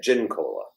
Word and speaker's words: Giancola: like Jean, like John. So I think that's what Gian is Yeah. like John. So So what do you say? well, we've always said gin cola.